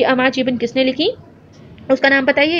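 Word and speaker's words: আমার জীবন: लिखी जिसका नाम था अमार जीवन, ठीक है। इसको इसी तरह से प्रोनाउंस करते हैं क्योंकि ये बंगाली में है।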